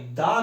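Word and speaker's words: the: সি অর্থাৎ একটা consonant এর আগে যদি আমরা দা কে বসাই দা কাও হবে এটা কখনোই দি কাও হবে না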